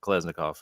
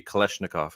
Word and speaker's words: Kalashnikov: you do now yeah they were pronounced that pop there was a lot of names pop off uh kleznikov and all this which we really should be Kalashnikov I guess but it was kleznikov